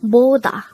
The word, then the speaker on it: 보다: is a two-syllable word the first syllable is bo the second syllable is da pronounce it with me poda boda the word boda is